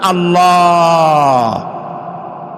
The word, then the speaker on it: আল্লাহ: আল্লাহর নাম আল্লাহ, বলেন তো? আল্লাহ নয়, কিন্তু আল্লাহ হচ্ছে অশুদ্ধ, শুদ্ধ হচ্ছে আল্লাহ। বলার সময় মুখটা গোল হয়ে যাবে।